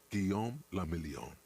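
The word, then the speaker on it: Guillaume Le Million: Guillaume Lamillion. If it doesn't rhyme, you're not pronouncing it right.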